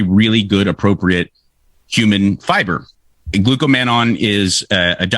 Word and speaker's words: glucomannan: have mine right here it's actually glucomannan not glucomannon this is the one